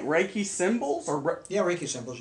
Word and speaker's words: Reiki: How do you pronounce it? Reiki.